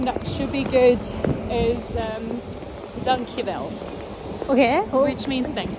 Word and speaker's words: dankjewel: The second one that should be good is dankjewel. Okay. Oh. Which means thank you. Oh, you have to say it one more time so I can pronounce it. Dank. Dank. Yeah. Yeah. Wel. Dankjewel.